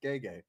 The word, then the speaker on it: Gege: And it said Gege.